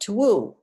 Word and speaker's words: two: And two used to be pronounced two woo. That's why we have twin, twa- twine, 12.